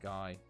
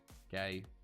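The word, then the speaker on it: Gueye: It's pronounced Guy. Gay. Hey, look, it's that Guy. We're gonna call him Guy, okay?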